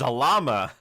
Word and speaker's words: Zalama: His name is Zalama. Like salami? No, like salamander.